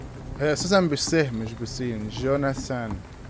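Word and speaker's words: Jonathan: جوناثان مش جون ناسان سمي ده في الانمي.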